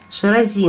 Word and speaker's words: Ширази: Ширази, на букву «И» ударение, да.